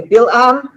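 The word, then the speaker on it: בלעם: Okay, in Hebrew we say Bilam.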